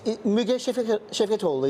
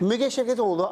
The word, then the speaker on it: Müge Şevketoğlu: Her name is Müge Şevketoğlu, yes? Correct. Müge Şevketoğlu, I've interviewed many, many years ago, and she's